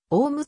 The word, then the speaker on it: 雄武: 伸びていた駅名はオムと読むが所在する雄武町はオウムと読み駅名と地名では読み方に相違があった廃止時点でた